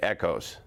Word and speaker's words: ECOS: Because if I was to call the electrical culture of safety with a proper pronunciation, I would call it echoes.